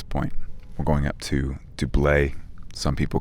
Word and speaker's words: Doublet: We're going up to Doublé. Some people call it doublet. My understanding is that the official pronunciation is the French Doublé.